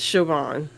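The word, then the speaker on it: Siobhan: it's on KiKi coot no that's how it spelled is soan but it's it's shoban sioban okay I thought when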